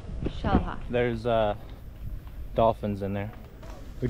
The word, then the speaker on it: Xel-Há: We just made it in to, how do you pronounce it again? Xel-Há. Xel-Há.